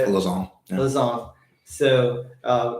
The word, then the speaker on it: Lausanne: This is where they're gonna crest this climb and then head down into the valley of Luzon. Is that how you say it? Lausanne.